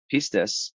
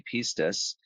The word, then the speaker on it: pistis: Pistis, or pistis, however you want to pronounce it, pistis.